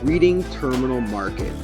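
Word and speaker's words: Reading Terminal Market: I apologize it's pronounced "Redding Terminal Market"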